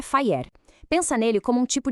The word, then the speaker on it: FHIR: A pronúncia é FHIR.